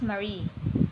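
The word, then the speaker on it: mare: maria in latin or marie in the singular pronounced marie their names marino views or the sea same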